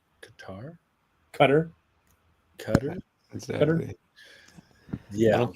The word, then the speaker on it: Qatar: I think I learned no matter how you try to pronounce Qatar, you're not doing it right. Qatar? Cutter.